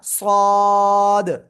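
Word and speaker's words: صاد: আগা সামনের নিচে দুই দাদাের পেটও আগার সাথে লাগাবেন লাগিয়ে আপনি এটা উচ্চারণ করবেন সবাই একসাথে জোরে জোরে বলেন সবাই সবাই অনেকে কিন্তু দদ বলতেছেন দদ না এটা সদ সদ ক্লিয়ার ওকে এবার দেখেন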